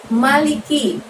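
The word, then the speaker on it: مَلِكِ: Di ayat yang kedua ada lafadz maliki. Ma di situ bacanya pendek aja ya, tidak ada tanda panjangnya teman-teman.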